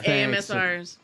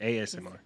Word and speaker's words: ASMR: I don't know about the squishing part, but just making Yeah, AMSRs. There you go. Whatever that is. Can't spell that. ASMR. Yeah. AMSR. ASMR.